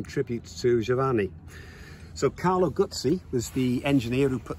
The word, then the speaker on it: Guzzi: in honor of Carlo gy and it is pronounced gy not guzy it's Italian at the end of there you